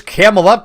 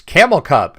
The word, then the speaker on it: Camel Up: saying what is this camel up game it's it's camel cub no no it's always been it's always been camel up you've just been pronouncing it wrong because the C was big Internet people but this